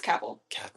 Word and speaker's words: Cavill: Is that how do you pronounce his last name? I think it's Cavill.